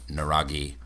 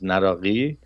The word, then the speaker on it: Naraqi: The Q, which is the transliteration of that letter, is K. So it's Naraqi or Naraqi or Naraqi.